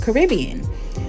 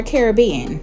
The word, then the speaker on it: Caribbean: And then this name is called Caribbean or Caribbean, however you would like to pronounce it. I know there are different ways in saying Caribbean.